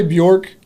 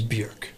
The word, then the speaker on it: Björk: So if you want to say Bjork, that's fine.